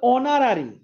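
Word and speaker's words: honorary: যেমন এটা হচ্ছে অনারারি, হ আসে নাই, তাহলে এন।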